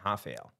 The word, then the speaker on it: Rafael: So Rafael, first, everyone that calls him Rafael, because he is American. Yeah. And so that R is, that's an R. That's a normal R. It's not the H, you know, as they pronounce it in Portuguese.